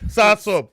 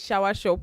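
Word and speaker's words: soursop: Sour sop.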